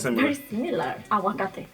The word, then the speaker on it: aguacate: Aguacate. Aguacate. Oh, maybe it's just me. No, I think hers maybe softer. You don't pronounce the G sound.